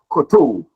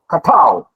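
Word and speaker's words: kowtow: That word there is not koto. It's been used, a lot of people, mention it by saying it's koto, but it's katao. Katao. It's one of the words that do not follow, that the syllables, the way it's written, it doesn't follow the same pronunciation. It's katao.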